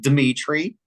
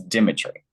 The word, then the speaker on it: Demetri: So it's not Dimitri, it's Dimitri. I know. My hard to hear, but there's different syllables in that one, but that's all right.